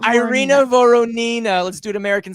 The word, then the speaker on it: Irina: me off guard when people say my name with russian you know proper russian pronunciation i feel like um i don't know i'm back to rush all of a sudden i'm sorry i irina varina does that help